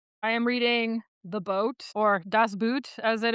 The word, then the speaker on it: Boot: Boat in German is just pronounced boat.